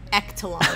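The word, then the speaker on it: Ektelon: I'm going to say Ectalon. I know sports, so it's pronounced Ectalon.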